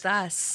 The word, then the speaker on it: Adidas: How do you say Adidas? Adidas. Adidas. Right. Yeah. That, you're the only person I've ever heard say it like that. That's how all the real foreigners say it.